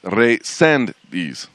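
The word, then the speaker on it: Reséndiz: the guy brought it resendies as you're telling me the accent is on the second e so it's re send these did what's your name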